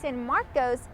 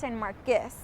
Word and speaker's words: San Marcos: is mispronouncing the city's name instead of saying San Marcos it's pronounced San marus the history behind the city's name is that